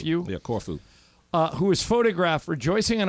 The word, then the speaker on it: Corfu: on the Greek island of, Michael, is it pronounced Corfu? Corfu. Yeah, Corfu.